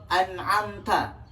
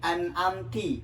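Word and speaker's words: أَنْعَمْتَ: Sebagai contoh, an'amta. Kemudian kita membacanya menjadi an'amti atau an'amtu. Nah, ini adalah kesalahan yang jelas, kesalahan yang nyata, dan berdosa hukum membacanya.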